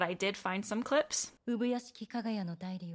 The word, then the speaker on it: Ubuyashiki Kagaya: There's how you pronounce the master's name. Ubuyashiki Kagaya. It's going to feel a little bit more unnatural to pronounce his given name that way because we aren't going to say it like that, like naturally.